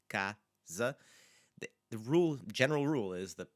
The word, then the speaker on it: casa: It's the S after it in casa, and cama is forcing us to just slightly change how that sound is going to be produced.